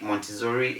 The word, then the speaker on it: Montessori: in this business so in a word like m o n t e s s o r i which you can see on your screen is pronounced as montessori because the ssr2 we give